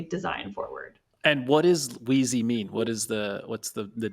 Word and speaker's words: Weezie: And we love that it also rhymes with easy, so we use that a lot in our branding. So, monogram towels should be easy, Weezie.